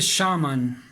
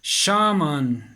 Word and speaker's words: shaman: So, in the same way, this is a Latin word, and it is pronounced shaman.